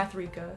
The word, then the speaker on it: Mathrika: How do you pronounce her first name? Mathrika. Mathrika. Okay, so exactly like it seems.